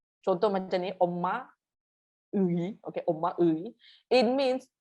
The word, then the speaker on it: 의: If it's in the middle of the word, we say it as 이. 편의점, 편의점, 편의점. Okay? And if it's at the end of the word, we say 애, 엄마애, 아빠애, 동생애.